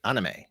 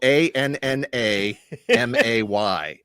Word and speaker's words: anime: Yeah, so if you want to go by the actual pronunciation of the syllables, it's anime, right? Right. Anime. But that's not how they say it.